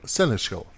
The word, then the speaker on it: seneschal: assistance of the royal seneschal. Yeah, it's interesting. I have problems pronouncing that word. So it is pronounced like this. Seneschal.